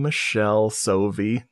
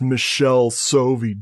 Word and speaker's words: Michele Soavi: And they're like, they commented like, it's pronounced Michelle Sovi, dude. And I literally found an interview with an Italian person in one of his movies talking about him as a director. And they said his name in Italian. And I'm like, here you go, buddy. And I posted that link. That's how you say it.